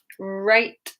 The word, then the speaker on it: write: So yeah, right wrist, wrong. Silent W because it's WR. WR, silent W. Just remember it like that at the beginning of the word.